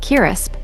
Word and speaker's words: crisps: In Bangladesh, they are generally known as chip or chips, and much less frequently as crisps, pronounced kirisp, and locally aloo bhaja.